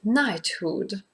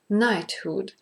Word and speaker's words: knighthood: grammar and some interesting parts for example the pronunciation of knighthood knighthood so be careful with it because it is